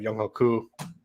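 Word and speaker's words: Younghoe: Young Hoku. How do you say his name? Young Hui. Young Wei, yeah. It should be Young Ho, but whatever.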